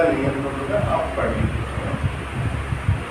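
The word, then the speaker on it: Lie: इसके बाद इनके शिष्य जो इनके जितने भी शिष्य रहे उसमें से एक शिष्य का नाम सोफी ली, ये प्रोनाउंसिएशन इनका ली है, और ली जिन लोगों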